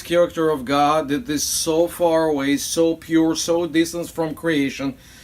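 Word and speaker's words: Zophar: another friend who is so foes it's actually so far let me spell it different not like we have it okay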